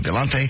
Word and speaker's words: Galant: And they just Galant? Galant. What'd I say? Galante. Oh, Galant. Go to your Mitsubishi dealer. They'll tell you how to pronounce that wonderful car as we play this wonderful game.